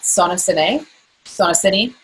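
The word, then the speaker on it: SonoCiné: That I would do differently is that another episode that you'll want to check out my podcast about Sonocine is how they pronounce it, is the new and latest and greatest in breast detection that is far better than mammograms, 0 radiation.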